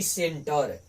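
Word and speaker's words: center: ए आई ए तू जैसे यहां पर है सेंटर सी के बाद ए आया है तो ये सी को दांती 100 से पढ़ेंगे यानी सेंटर अगला है सेंचुरी देखिए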